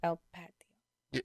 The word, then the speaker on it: El Patio: El Patio.